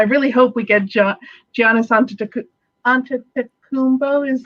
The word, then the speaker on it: Antetokounmpo: Goes, I really hope we get Giannis Antetokounmpo, is how you say his last name.